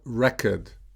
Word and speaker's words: record: The noun form and the verb form are spelled the same, but the pronunciation will be different because of the different stress.